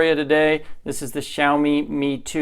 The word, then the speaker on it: Xiaomi: how do you pronounce Zeile me Gio me how do you say it it's actually Xiaomi I got it wrong in our first video